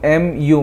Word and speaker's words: mu: mu this is this is red as mu m u mu this is how you pronounce it so this is called mu and